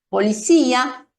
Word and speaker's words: policía: los heteroprosódicos, es decir, palabras que son semejantes o iguales en ambos idiomas, pero que se pronuncian de una manera diferente. Y yo aquí tengo 3 ejemplos: policía, cerebro y democracia.